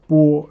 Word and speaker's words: 剥: Now this character has a second pronunciation. It's called 包. So, well, 包 is a colloquial way of pronouncing the character, which specifically means peel, skin it off, skin something, or peel off.